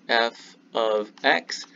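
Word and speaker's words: f(x): write f of x this is pronounced f of x do not say f times x this means x is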